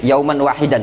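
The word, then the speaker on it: يوما واحدا: lahu, atau yauman wahidan, itu bacanya yauman wahidan ya, hamzanya hamzah bukan hamzah tapi alif ya.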